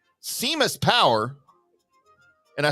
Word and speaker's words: Seamus: I said his name is Seamus. That's a very popular name from where he's from. It's like John over here. Well, that's not how it's spelled. I said it's Seamus. That's just how they spell it.